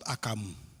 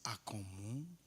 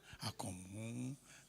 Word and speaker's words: Akomu: Please, not Akamu. Before you start looking for Kose or Akara. So I just, for the benefit of those who cannot pronounce the name very well, it's Akomu.